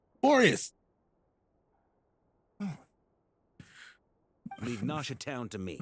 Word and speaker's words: Boreas: Boreas? That is not how we've been saying it. It's been 5 years. No one has said it. I've never heard anyone say it like that. Boreas.